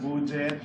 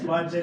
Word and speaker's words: Budjette: clear, it's not Budjette, it's not Budjette, which is the first pronunciation I heard. They thought I was Mexican, I don't know. They thought Kanjo's name was Kaho. Si Budjette, tsaka si Kaho. It's Budjette because it's Buddy and Adjet, it's my parents' name.